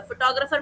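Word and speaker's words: photographer: फोटोग्राफर में कितने syllable हैं? फ ट ग र फ र छह सिलेबल है। ठीक है? और मैंने किस पे जोर लगाया? सेकंड वाले पे ट पे फोटोग्राफर।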